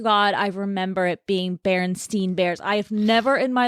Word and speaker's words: Berenstain: And I even say Berenstain Bears. Well, apparently it's spelled with an A and not an E. So it's Berenstain Bears.